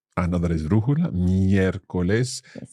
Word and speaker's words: miércoles: O, por ejemplo, miércoles. Another esdrújula, miércoles. Yes. So again, our accent sits on that first E in the word miércoles.